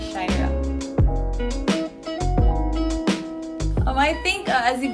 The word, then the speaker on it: Ciairha: I'm so it's a weird spelling it's spelled as c-i-a-i-r-h-a but it's pronounced as shyra um I think as